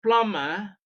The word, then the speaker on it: plumber: do not know that b is silent in Plum you might